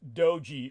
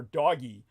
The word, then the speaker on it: DOGE: efficiency or acronymous as what I pronounce as dodgy named after an internet meme more correctly pronounced dogey or doggy uh but many of